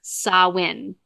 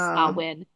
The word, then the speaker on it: Samhain: Now, he's Celtic, and the Celtic community kind of was like, please, his name is Samhain. That's how you pronounce the name, is Samhain.